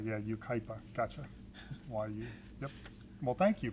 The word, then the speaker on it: Yucaipa: California city that we couldn't pronounce it is pronounced Yucaipa California UK UK Pina how'd they get that he's with the sea oh no it is you right yeah Yucaipa gotcha why well thank you Michelle yeah thank